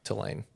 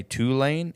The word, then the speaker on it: Tulane: I'm a big voice texter, and if I say Tulane, it does TWO space LANE. Tulane. Maybe like we two should, lanes. It should be spelled like that.